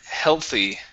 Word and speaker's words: healthy: Uh, next up is the word healthy. Um, right here the word is pronounced hell.